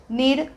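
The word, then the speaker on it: knead: तिथे नीड असं लिहायचं नीड ओके स्पेलिंग मध्ये काय आहे के आहे के चा उच्चार म्हणजे क उच्चार आपण होतच नाहीये क चा उच्चारच करत नाही हो कनिळ असं काहीतरी आपण म्हणत नाही आहोत नुसतं म्हणतोय नीड के हे अक्षर सायलेंट आहे सायलेंट चा अर्थ असा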